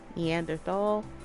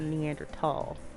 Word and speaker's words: Neanderthal: A preference, and there's no H sound when it's pronounced in French and German.